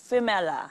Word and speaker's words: Phoemela: Phoemela starts with a P or sounds like an F? Sounds like F. Phoemela. Phoemela. Yes. Mali-mali yung Phoemela. Yes, parang Phoenix.